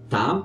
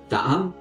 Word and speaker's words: Tấm: Et donc voilà, c'est genre là vous avez un accent circonflexe pour Taam et un accent aigu ce qui donne Kaam. Pour la suite de l'histoire, je vais prononcer Taam et Kaam.